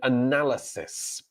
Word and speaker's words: analysis: Someone here's name Krishnan would like to know how to pronounce analyze and analysis.